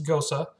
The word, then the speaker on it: Gose: My dad used to do a lot of travel in Germany back in the late 90s, and he says proper pronunciation is Gose.